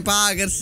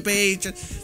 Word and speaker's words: Pacers: Gente sempre nei commenti che mi dice: non si dice Packers, si dice Pacers.